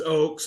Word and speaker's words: Oaks: your last name Kyle it's it's Oaks like a treat I knew it you